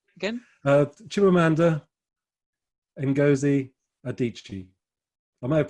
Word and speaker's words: Chimamanda: if you just google chimamanda which is like amanda only with a c-h-i-m on the front right okay and if